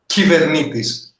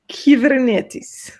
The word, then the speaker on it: Kubernetes: How you actually pronounce that, Nick? Kubernetes. Kubernetes.